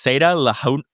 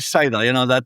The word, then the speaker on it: Saida: me if I get this wrong, but it's Seda Lahuna in Lebanon. Is that correct? Yes, close. Say it. I'm going to let you pronounce that one correctly. No, I mean, it's actually Saida.